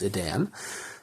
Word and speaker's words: Edan: I don't think it's pronounced Eden. I think it is Edan.